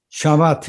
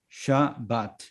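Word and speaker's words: שבת: 이건 샤바트. V에 거의 가깝습니다. 사실은 네. 예, BH 발음이 납니다.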